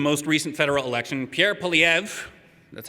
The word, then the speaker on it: Poilievre: Which means if you'd only had teenagers voting in the most recent federal election, Pierre Poilievre, that's how you pronounce his name, would be prime minister right now.